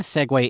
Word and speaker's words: segue: Well, the the brand Segue is spelled S E G W A Y cuz they needed to trademark it, right? Okay. But the actual word, the actual word is SE gu.